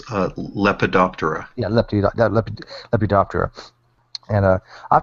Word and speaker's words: Lepidoptera: Is that how you pronounce the moths? If it's moths and butterflies, it's Lepidoptera.